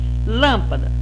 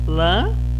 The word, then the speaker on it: lâmpada: Lâmpada.